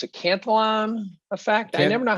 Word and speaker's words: Cantillon: gold ran out, and the how do you pronounce it? Cantillon effect? I never know how to. Cantillon effect.